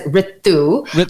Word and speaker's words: Ritu: I pronounce it as Ritu.